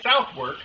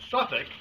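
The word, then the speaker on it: Southwark: you're able stop by South work uh pronounce Suffolk I kid you not Cathedral and see if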